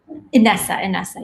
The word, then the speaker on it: Inessa: How do I pronounce your name? Is Inessa? Inessa, yes.